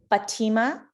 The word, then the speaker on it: Fatima: offer i didn't even say my name it's fatima if i was in america i say fatima